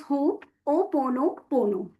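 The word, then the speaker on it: Hoʻoponopono: uh how it is pronounced as it is pronounced as hope o pono pono.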